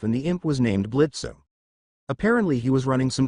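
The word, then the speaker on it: Blitzø: I think his name is Blitzo? Yeah, he says the O is silent.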